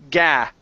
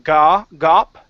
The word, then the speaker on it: gap: Gap. Gap. Yeah, so the difference here, you're saying gop, and gap.